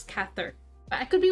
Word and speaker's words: Cather: song by i actually had to google if this would pronounce keither or cather apparently it's cather i could be wrong